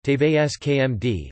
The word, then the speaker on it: TV5Monde: TV5Monde, French pronunciation, TVSKMD, formerly known as TV5, is a French pay television network, broadcasting several channels of French language programming.